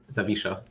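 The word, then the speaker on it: Zawisza: Yeah, the W is supposed to be like a V pronunciation. Also the SZ is uh an equivalent to SH Zavisha.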